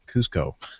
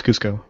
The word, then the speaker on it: Cusco: So, so, uh, you know, I'm glad that you read that, um, stuff because I would have said Cusco. That's Cusco. Am I pronouncing it right? No, it's Cusco. Oh, it is.